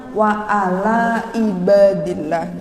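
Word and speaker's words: وَعَلَى عِبَادِ اللَّهِ: Kemudian ainnya harus dibetulkan. Semua jangan sampai menjadi hamzah. Jadi di sini ada kata-kata wa ala ibadillah. Ini jangan sampai bacanya wa ala ibadillah. Jadi ampun sampai seperti itu.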